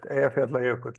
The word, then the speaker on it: Eyjafjallajökull: while is here, and nobody but us can pronounce it. Eyjafjallajökull is what is the name of it.